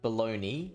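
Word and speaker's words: bologna: then uh so you you pronounce that word baloney even though it's spelled bolognia is that right yeah baloney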